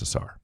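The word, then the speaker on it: Ausar: excited about osar Thompson I um hear assar it is um but yeah how how do you say it assar I think assar I think it's assar all right assar and a men are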